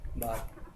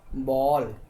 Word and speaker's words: ball: आ भी नहीं बोलना है, ओ भी नहीं बोलना है, बॉल, राइट, ठीक है।